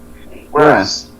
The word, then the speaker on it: whereas: Is you pronounce where, it's like the word where, and as is but now as one.